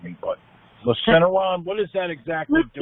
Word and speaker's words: Lufenuron: I don't know if I'm going to pronounce it. Robin will correct me, but Lufenuron. What does that exactly do? Lufenuron.